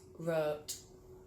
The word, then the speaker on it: wrote: silent w I wrote a book not worked but wrote so that was it guys so I hope you learnt the correct pronunciation of these words they're quite common words